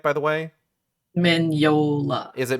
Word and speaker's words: Mignola: of pushed towards like having Mignola am I pronouncing that right by the way? Mignola. Is it Mignola?